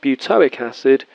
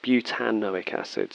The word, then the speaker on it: butanoic acid: butte anaoic acid so no it's not butylic acid it's butanoic acid so we always include that extra syllable the second compound actually